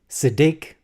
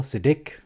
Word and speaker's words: Siddiq: It's Siddiq, emphasis on the second syllable. Siddiq.